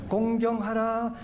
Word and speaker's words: 공경하라: 발음을 잘해야 돼요. 공격이 아니에요. 공경하라.